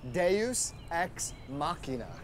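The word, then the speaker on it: deus ex machina: no it's pronounced de is Mesa okay it's pronounced Deus X makina makina really yeah hey wow look at look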